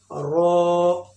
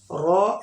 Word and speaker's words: ر: उसके बाद रो. रो heavy sound, मोटा लेटर है, इसको हेवी फेट करके पढ़ना है.